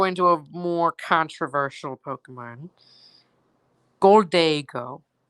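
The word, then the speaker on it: Gholdengo: controversial Pokemon gold daygo I know some people say it's supposed to be pronounced golden go but I what the hell sorry about that that was a mistake um I call it gold day girl because yes now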